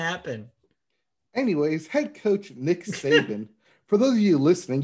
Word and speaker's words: Saban: Saban? Saban? There you go. Saban.